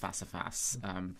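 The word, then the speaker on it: Face à Face: And you spell that F-A-C-E? Face, with an A and then face, yeah. But it's pronounced Facifas, but yeah.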